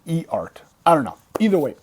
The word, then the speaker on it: EART: an EART guitar, or as I used to pronounce it up to a week ago, EART. I thought it was EART. It's E-A-R-T, but I've come to realize from some folks that it's actually I forget what it stands for, something, and then it's actually ART.